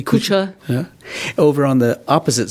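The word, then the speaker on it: Kucha: Is that pronouncing it correctly? Kusha.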